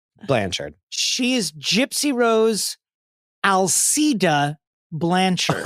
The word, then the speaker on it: Alcida: The first time I came across it, I was pronouncing it Al Qaeda. So I had it wrong. Not the same. I had it wrong. Not Al Qaeda. No.